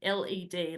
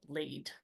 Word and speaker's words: led: It should have been led, L-E-D, like as in lead, as in the poison toxic thing. So we need to pronounce it as led, not lead.